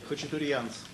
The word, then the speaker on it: Khatchtouriants: please, how do you pronounce it? Khatchtouriants.